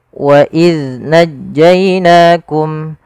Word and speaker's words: وإذ نجيناكم: Pada lafaz bacaan wa idz najjainakum, hati-hati pada lafal zal, jangan sampai huruf zal ini terpantulkan. Kesalahan yang terjadi adalah memantulkan zal ketika dia berharokat sukun.